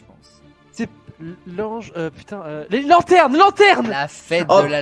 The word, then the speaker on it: lanterne: Putain, les lanternes!